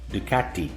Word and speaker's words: Ducati: maybe 45 years old here's the proper way to pronounce ducati in italian ducati and here's the proper